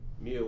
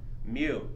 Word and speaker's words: mu: say it in english mu with the m as in mary mu it's like a u